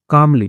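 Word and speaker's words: calmly: बेटी है उसने कहा कामली ठीक है तो एल साइलेंट होता है इसमें कामली तो शांत स्वर में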